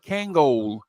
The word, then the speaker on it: Kangol: to the tuxedo place, and hmm in a tuxedo place they used to call it Kangol.